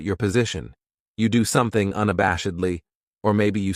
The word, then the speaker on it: unabashedly: This adverb has 5 syllables, and the stress is on that third syllable, that bash, unabashedly. That second syllable has that schwa, that sound, unabashedly.